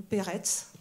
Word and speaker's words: Peretz: Les trois au premier plan s'appellent tous Perek ou Peretz, pour reprendre la remarque du C qui, vous savez, en yiddish se prononce Ts.